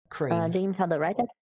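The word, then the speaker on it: Krcren: do a bow back all right I leave crane k-r-c-r-e-n the RCI hold on say it again k-r-c-r-e-n like this and it's pronounced crane right I'll just copy and paste it because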